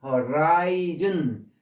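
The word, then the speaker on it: horizon: 학생들 가르치면서 제 발음은 엉망이 됐는데 허라이 여기에 아이로 발음해야 돼요. 아이 허라이즌 명사 수평 그리고 수평 그럴 때는 허리라고 발음해요.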